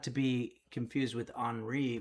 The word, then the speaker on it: Henri: Not to be confused with Henri, which is the French pronunciation of my name.